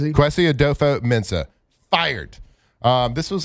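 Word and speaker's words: Kwesi Adofo-Mensah: Qui Adopo Mensah.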